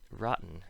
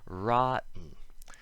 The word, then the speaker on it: rotten: and bow talks and rotten is a funny case where the t's don't make a sound at all rotten this is because when